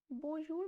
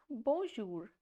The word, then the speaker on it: bonjour: So the pronunciation of this word is bonjour, not bonjour.